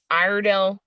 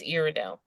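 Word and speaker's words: Iredell: of Statesville is actually proactive but the but irell I fig this is the the weirdest okay this county is spelled i r e d e l l so obviously it's weidel right it's irido that's how it's phonetically pronounced but um not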